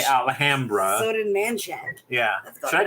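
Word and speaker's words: Alhambra: well I'm sorry Sonic gotta say it the way they say it there alhamra it goes against every every fiber of my being to say it that way but that's how they say it there so I say alhamra so did man yeah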